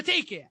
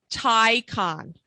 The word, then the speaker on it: Taycan: around and say so is it a tyon or a take it's a tyon i phonetically spelled it in my I my notes it's a tyon but I say take por should just go